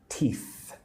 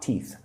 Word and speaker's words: teeth: Teeth. Tooth. Lick your front. Your top teeth. Put your tongue on your teeth. Lick it. Right. Teeth. It's a kind of a hard th sound.